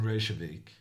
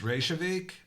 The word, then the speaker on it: Reykjavik: to win tomorrow Pro well actually it's pronounced revik um it is a Norwegian and since Icelandic is kind of like old Norwegian I'm just I'm just pronouncing it in my own language I don't really know how they pronounce it in Iceland can you hear me